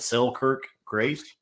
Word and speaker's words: Selkirk Grace: accompanied at first by this what's called the selkirk grace yes is that the correct pronunciation absolutely uh it's short but it says